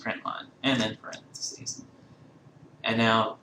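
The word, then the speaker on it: println: out dot print ln which is pronounced print line and then parenthesis and now whatever you want to show you have to do quotations around it.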